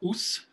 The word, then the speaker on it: Os: I like to say the pronunciation of the town is Os, rhymes with loose, but it's just O-S.